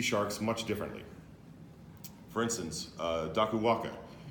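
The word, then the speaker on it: Dakuwaqa: For instance, Dakuwanga, the Q in Fijian is pronounced NG, is a shark god who is basically, it's a loose interpretation, but it's the King Arthur of Fiji.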